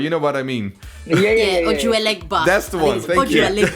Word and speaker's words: Ojuelegba: I can't pronounce the song, but you know what I mean. Ojuelegba.